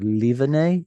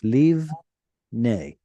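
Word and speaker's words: לבנה: So instead of livene, it's livne. Oh, okay.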